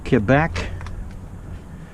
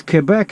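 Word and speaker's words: Québec: all the time well because Quebec is in French it's the French way of saying the name of the province and I'm speaking English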